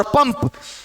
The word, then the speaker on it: पंप: पंप किसका उच्चारण हो रहा है? म का।